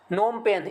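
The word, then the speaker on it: Phnom Penh: में 2022 कंबोडिया में नोमपेन्ह इसको नाम पर पड़ते हैं ठीक पीस साइलेंट है इसमें पीस लेंटर नोम पेन कंबोडिया के नाम पर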